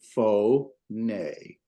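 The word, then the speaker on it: φωνή: The noon and the eta is a syllable, and so we get fo nay. And that stress mark is on the nay part.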